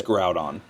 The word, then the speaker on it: Groudon: Is it Grudon? Gr Groudon. How do you pronounce it? How do you pronounce it? It's Groudon. I've never heard anybody say anything else, but maybe out there. I'm one of those that say Grudon. You say Grudon. I always have.